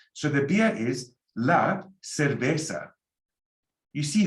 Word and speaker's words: cerveza: You see, the C is like an S, like in English, you know, and the Z, you can sound it like an S. But in Spain, if you want to have an accent like they do in Spain, you can lisp all the C's that are soft and all the Z's.